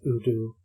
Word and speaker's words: U-DO: Udu, pronounced Udu, short for Unus Mundus Drive Operation, or One